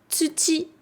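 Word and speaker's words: 土: Et le samedi, doyobi, le do de doyobi, quand il est tout seul, il se prononce tsuchi.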